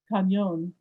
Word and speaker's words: cañón: Harold used the Spanish spelling, C-A-N-O-N. The Spanish would pronounce it cañón.